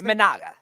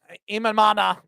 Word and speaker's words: Imanaga: The Cubs traded for Marlins pitcher Edwin Cabrera brought back Shoda how do you pronounce this? Imanaga Imanana whatever a qualifying offer and signed Alex Bregman to a five-year $175 million deal.